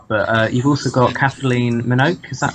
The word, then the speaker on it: Minogue: But you've also got Kathleen Minogue, is that how you pronounce her name?